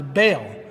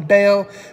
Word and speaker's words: Bale: his last name is Bale. Now, anybody, and I know this is spelled different. Now, Bale, which is also pronounced Bale, Christian Bale or Bal. Some people call him Bal, but it's Christian Bale.